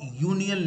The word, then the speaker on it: union: So he is also a union leader, and I am spelling it YU. Of course, this is not the correct spelling, but only to clarify the pronunciation part. Okay. He is also a union leader, starting with Y.